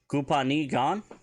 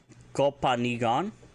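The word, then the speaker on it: copaani gaan: Kupani gan? Kopani gan?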